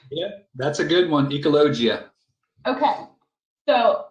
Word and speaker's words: Ecologia: that's a good one ecologia okay so my college classes that i took a long time ago wanted to make me pronounce it as ecologia in the spanish so i was like